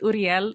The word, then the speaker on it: Uriel: I want to pronounce it Uriel because my cousin's name that's like the Spanish way of pronouncing it, and then my cousin's name is Uriel also.